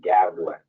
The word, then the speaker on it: Gavlin: who do pronounce it it's like javelin but with the G so Gavilan spelled as is Barl o w and